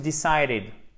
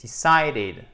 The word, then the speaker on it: decided: Notamment, once you've decided. Alors attention, c'est pas once, c'est once. OK? You've decided. C'est pas decide, c'est decided. OK? Et faites bien le id à la fin.